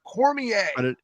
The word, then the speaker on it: Cormier: it there's no a in it but it's pronounced Cormier trust me it really is and you went